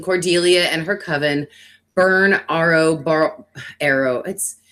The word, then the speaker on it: Ariel: and her coven burn Arrow. His name is spelled Ariel, but they pronounce it Arrow. So I don't know if I'm saying it right or wrong.